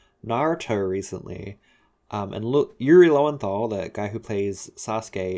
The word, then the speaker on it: Yuri Lowenthal: familiar with louis yuri i keep saying his name wrong i'm familiar with yuri lowenthal he wanted to calling him i keep wanting to call him louie for some reason anyway i'm